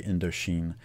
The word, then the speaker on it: Indochine: It's just the French pronunciation of French Indochina. So the French would say Indochine.